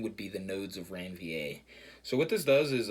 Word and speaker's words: Ranvier: of ranvier or reviewer i think that r is silent it's nodes of ranvier ranvier r-a-n-v-i-e-r also called